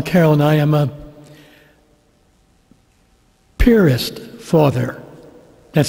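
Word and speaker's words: Piarist: and i am a purist father that's spelled p i a-r-i-s-t we pronounce it purist like where you put a boat at a pier and then put an ist on the end of it i have to say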